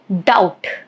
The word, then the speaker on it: doubt: Plumber, dumb, thumb, debt, doubt, subtle. All of these examples, as you can see, letter B is silent.